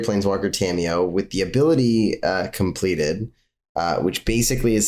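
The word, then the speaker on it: Compleated: Is it Completed Sage? Completed Sage? It's just pronounced completed, but I like saying completed because it bugs people who know that it's just completed.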